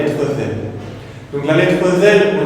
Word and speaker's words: ذ: Donc la lettre zel, au niveau de la prononciation, on va placer du coup le bout de notre langue sur les extrémités des deux dents supérieures. Donc avec une fatha, on dira va. C'est exactement pareil que la lettre tha que l'on a vu précédemment, si vous vous souvenez. On place le bout de notre langue sur l'extrémité des deux dents supérieures et donc du coup on va prononcer un petit son de Z.